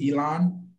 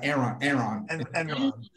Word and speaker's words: Enron: Is it Elon? Am I saying it right? Enron.